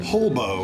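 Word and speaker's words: Holbo: Hobo. Hobo. Okay, like hobo, but with an L.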